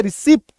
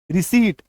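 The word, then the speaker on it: receipt: अच्छा यहां पे देखो, एक्चुअली में ये रिसीट होता है, ठीक है, प का यहां पे साउंड नहीं आएगा, है ना। ये हम लोगों ने पी के साइलेंट लेटर रूल में मैंने आपको सिखाया भी है, ठीक है। बट अगेन से मैंने यहाँ पे रिसिप्ट, हम लोग बोलते हैं रिसिप्ट, तो एक्चुअल उच्चारण क्या होगा, रिसीट, यहां पे प नहीं रहेगा, रिसीट, ठीक है।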